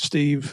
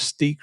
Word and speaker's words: Steve: police there that, they couldn't say my name real good, Steve. It came out as Steak or Stick.